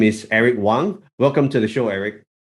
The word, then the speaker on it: Wang: And just before we started recording, just asking how to pronounce it properly, whether it was Wang or Wang, right?